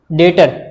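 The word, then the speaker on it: debtor: डेटर, इसमें B silent होता है, डेटर पढ़ते हैं उसको।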